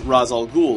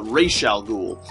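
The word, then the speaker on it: Ra's al Ghul: because or originally the character was known as razal ghoul like when the when the guy who invented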